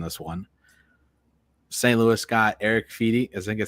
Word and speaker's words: Eric Fedde: Louis got Eric Fedde.